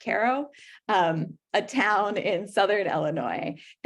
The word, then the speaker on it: Cairo: Cairo, Illinois, which is spelled like Cairo, but pronounced apparently like Caro, a town in southern